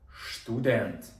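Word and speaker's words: Student: як штат дуже добре студент як ви прочитаєте це на німецький штудент Правильно Добре а слово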